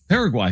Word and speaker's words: Paraguay: Paraguay. Thank you. Paraguay. I mean, were we really going to trust Jim on the pronunciation when he missed the continent?